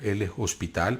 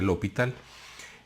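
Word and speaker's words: L'Hôpital: que la escriben así, se escribe raro como L apóstrofe hospital, como L hospital, pero se pronuncia L'Hopital.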